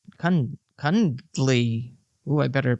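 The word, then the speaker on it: Cundey: Cuddley. No, he's not cuddly. He's cud Kundly.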